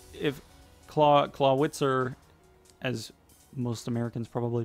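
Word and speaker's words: Clawitzer: that's how if claw claw wit sir as most Americans probably pronounce it if it were pronounced in Germany would be clouded sir the W makes a B sound just so you know but he's out in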